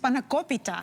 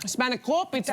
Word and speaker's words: spanakopita: Yeah, and it's actually pronounced spanakopita. Spanakopita.